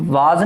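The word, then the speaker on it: was: अच्छा इसका pronunciation वाज नहीं होता, वाज। वाज जब बोलते हैं ना तो अपने ऊपर वाले लिप्स नीचे वाले, सॉरी ऊपर वाले टीथ नीचे वाले लिप्स से टच करते हैं तो वाज, वो वी का प्रोनाउंसिएशन होता है, वी का। और डब्ल्यू को जब बोला जाता है ना तो मुंह गोल करके बोला जाता है, वॉज नॉट ए वाज।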